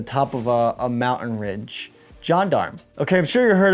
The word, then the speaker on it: gendarme: a protruding flat wall this here is a gendarme it's a john darm so basically that's the way it's spelled anyway uh but it's just